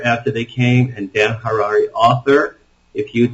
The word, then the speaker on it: Harary: After They Came is my book, and my name is Dan Harary, Harary, rhymes with Ferrari.